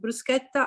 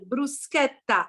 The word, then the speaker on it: bruschetta: bruschetta to the restaurant remember to pronounce correctly the word bruschetta and not bruschetta will do thank you eleanora welcome